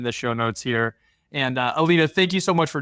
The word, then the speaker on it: Alina: So it's Alina, and it starts with a K.